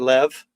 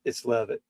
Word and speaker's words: Levitt: You don't pronounce that Lev. Oh, you do, because there's no E at the end. Yeah. It's Levitt.